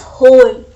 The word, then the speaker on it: whole: W is silent. So we spell it as whole.